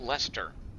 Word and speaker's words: Leicester: bunch of it like lice Esther how's that Lester it slices to square and they're just like